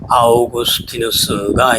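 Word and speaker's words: Augustinus: 어그스틴은 영어식발음이고요. 아오그스티누스가 이제 라틴 식발음입니다.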